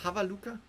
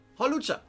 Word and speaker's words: Hawlucha: a look right here is it even called havaluka how do you how do you say the name that'd be the fifth one it is Hawlucha okay after struggling with the name for quite